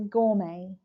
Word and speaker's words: gourmet: by yourself gouret g t is not pronounced G is a person